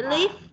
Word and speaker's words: leaf: Rồi, chữ leaf nè, đừng đọc là leaf, leaf mà là leaf.